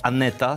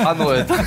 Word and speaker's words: Anoeta: Tomek, ale nie chodziło o Aneta, tylko Anoeta.